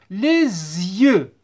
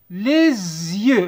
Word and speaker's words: les yeux: Les S entre deux voyelles. Entre deux voyelles. Entre le E et Y. نديروا la liaison الوصل. Les yeux. Les yeux.